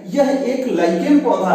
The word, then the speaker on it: lichen: में लीचेन कहते हैं, लीचेन, इंग्लिश वर्ड इसका स्पेलिंग है LICHEN। तो ये लाइकेन पौधा से लिया गया है, जिसका प्राकृतिक कलर